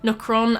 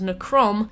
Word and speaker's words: Nokron: still didn't even notice, Nokron as Nokrom, and the Misbegotten Warrior as the Malbegotten Warrior.